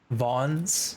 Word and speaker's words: Vaughn's: Vaughn's is the pronunciation.